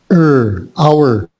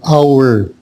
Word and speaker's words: hour: The H is silent, okay? So then it's like hour. Okay, no H. And it's not hour, but hour.